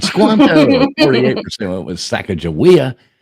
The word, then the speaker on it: Squanto: I say rhymes with Tonto. Right. Squanto, 48% went with Sacagawea.